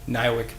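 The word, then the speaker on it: NIWC: Warfare Center Pacific yes how do you pronounce that in your workplace when you refer to your place of business what how do you refer to it niwick Pacific correct what do you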